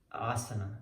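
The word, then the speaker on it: आसन: But asana, it's really asana. You're gonna see why it's asana.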